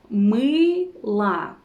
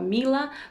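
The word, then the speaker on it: мыло: little bit tricky just try to smile as wide as you can and say it's like e e but make it wider right sound for example the word soap me la uh so it's not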